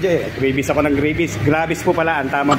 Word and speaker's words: Gravis: Gravies po pala ang tamang pronunciation kaya ayan ha.